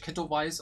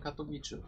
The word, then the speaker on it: Katowice: Deswegen wird es nicht Katowice ausgesprochen, sondern Katowice.